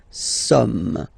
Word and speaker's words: sommes: So you don't pronounce the final S here, it doesn't exist. Sommes, nous sommes, okay.